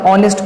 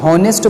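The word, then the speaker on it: honest: हटो की नेक्स्ट आपका ऑनेस्ट person known as versus सबसे बड़े खलनायक ऑफिस को जो लोग होनेस्ट बोलते हैं यह बिल्कुल गलत प्रनंसीएशन है हार्डनेस नहीं होता है यहां पर ऐड साइलेंट होता तो 210 और ऑनेस्ट बट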